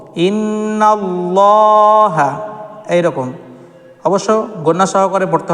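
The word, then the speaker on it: إن الله: উচ্চারণ করে থাকি যেমন ইন্নাল্লাহা দেখুন এখানে লাম মুশাদাদের পূর্বে দেখুন নুনের মাথায় কিন্তু দেখুন এখানে জাবার এসেছে লাম মুশাদাদের পূর্বে জাবার এসেছে সেজন্য আমরা এটাকে ল পড়বো ইন্নাল্লাহা এইরকম অবশ্য গণনা সহকারে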